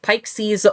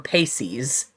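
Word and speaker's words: Peixes: debate as to whether her last name is pronounced pike sees or paceys i think i just say yeah pixies i'll just say pixies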